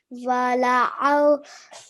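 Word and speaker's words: وَلَأَوْضَعُوا: So in this word, we had the alif zaida, excessive alif after lam. Okay, and as you can see, we did not pronounce it. Okay, we are only prolonging the lam for 1 second because of the fatha stroke. The alif is silent.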